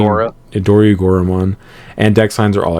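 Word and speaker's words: Dorugoramon: Agumon they play, but Dorigor, I don't think that's how you say it. I think it's saying Dorigoramon, and deck signs are all X-Ante.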